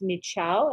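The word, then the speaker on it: Michaud: And the D is unpronounced, so it's Michao, as she told me.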